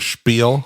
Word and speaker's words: spiel: Spiel which you know I could have sworn there was like an H in there or something like a Spiel yes you know when you say it don't you pronounce an H in there I also say spiel yeah I think that's just like because it's a loan word from Yiddish you would still spell it